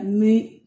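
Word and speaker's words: μ: Después viene la mi, que se pronuncia de esa manera, mi, como si tuviéramos después de la M una U francesa, ¿sí?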